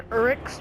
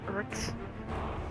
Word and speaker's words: Uruk: Basically, the Uruks, which aren't orcs, they're Uruks. I say it like Uruks, but some people call it like Uruks.